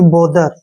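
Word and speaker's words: bother: ई आ ठीक है ना बोथर नहीं पढ़ना इसको यहां पर टी एच का उच्चारण जो है द के रूप में होगा बी का उच्चारण हो गया ब ओ से हो गया ओ की मात्रा और टी एच का उच्चारण हो गया द और ई आर का उच्चारण र करेंगे यानी कि बोदर बदर मींस क्या होता है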